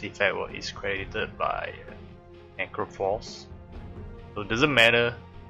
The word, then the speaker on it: Necrophos: Not necromancer, it's Necrophos. Necrophos? Is it Necrophos? How do you pronounce it? Necro. Necro is right, like necromancer. Necrophos.